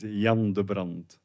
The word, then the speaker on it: Jan de Brandt: My name is Jan de Brandt. It's Jan. And in Nepali, for us, it's called here a G. But if you say Jan de Brandt, that's a women for in Belgium. Oh, Jan is the female of Jan.